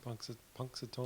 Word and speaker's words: Punxsutawney: But What is the correct pronunciation for that groundhog? Punxsutawney.